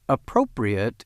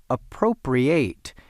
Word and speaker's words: appropriate: Sure, appropriate is pronounced differently from appropriate, the verb, although it is spelled the same and they mean different things.